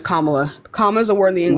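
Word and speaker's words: Kamala: to tell you why that's not how you pronounce her name it's commala Kama is a word in the English language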